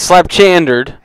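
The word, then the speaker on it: pslabchandere: ahead so it's it's slap chander um but it is uh it is p s l a b c h a n d e r e Ed all right uh the p is silent this SL chard means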